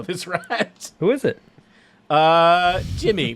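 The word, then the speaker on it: D'Jimy: Jimmy, but it's spelled like with an apostrophe instead of with an I.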